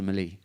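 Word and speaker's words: melee: even learn that the word Mele is actually pronounced Malay it's just an Irish thing that we call it a Mele but the rules are so difficult to understand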